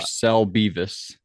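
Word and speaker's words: Garcelle Beauvais: Garcel Beas.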